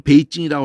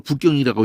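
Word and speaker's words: 北京: 왜 우리 고유의 그 수도의 이름을 우리는 베이징이라고 하는데 니들이 네 발음식으로 북경이라고 읽고 자빠져 있어.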